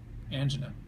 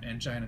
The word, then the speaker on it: angina: complains of chest pain angina or angina depending on the pronunciation you must know if